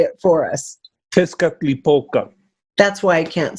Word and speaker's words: Tezcatlipoca: so will you please say it for us Tezcatlipoca that's why I can't say it that's it again Tezcatlipoca just cut lip oka over the smoking mirror